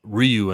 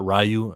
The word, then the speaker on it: Ryu: I heard it's pronounced Ryu and not Rayu and that finally people will pronounce it correctly.